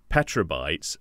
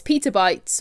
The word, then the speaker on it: petabytes: of this is that Jen mentioned petrol bytes and because I'm so dumb I didn't correct her I thought I know it's petabytes or petabytes like I